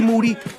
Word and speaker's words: Moody: much more with G moody last name rhymes with duty and special guest the